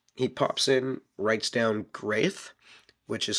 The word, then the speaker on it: G'reth: Liz says that this was very common for dragon names back in the dragon age that they would all have a G sound, a hard G with the apostrophe on there as well.